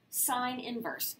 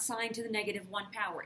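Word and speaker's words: sin⁻¹: how to say this this is sine inverse not sine to the negative 1 power if i hear you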